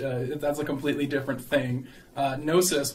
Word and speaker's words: gnosis: a completely different thing gnosis with a silent G is an ancient Greek